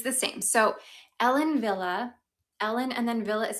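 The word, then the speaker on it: Wille: So, Ellen Villa Ellen and then Villa is spelled W I L L E. It is a German brand. She's German.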